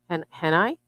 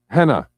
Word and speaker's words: henna: Henna. I think it's actually pronounced henna. I think the I's silent.